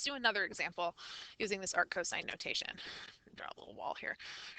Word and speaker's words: arc cosine: looking for arc cosine so arc cosine is the way that you pronounce this not Arcos right so if I